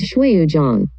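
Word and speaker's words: 水滸傳: evident about the title the pronunciation in chinese as shuyujong and in japanese the pronunciation is suikeden because of these two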